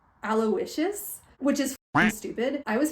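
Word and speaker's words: Aloysius: and it's Stark weather apparently his first name's pronounced aloicious which is stupid I was pronouncing it aloisius cuz like that's how it's spelled like just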